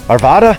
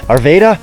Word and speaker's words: Arvada: building a portal in Arvada arveda I always say it wrong I think it's Arvada but arv anyone's from the